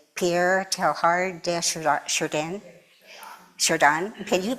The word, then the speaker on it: Pierre Teilhard de Chardin: Okay, there's a quote by, I can never pronounce her name correctly, Pierre Teilhard de Chardin. Chardin. Can you pronounce it for me, Jen? Would you say it for me? Pierre Teilhard de Chardin.